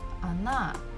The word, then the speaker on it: она: So this first letter O is not stressed. That's why I pronounce it as A.